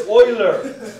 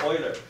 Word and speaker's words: Euler: It's Euler! He's a Swiss mathematician. It's pronounced Euler. If you go to college and you say Euler, you're going to be laughed out of the dormitory.